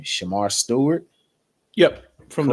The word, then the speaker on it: Shemar Stewart: around town is I'm pronouncing his name Shemar Stewart, Yep, from the correct?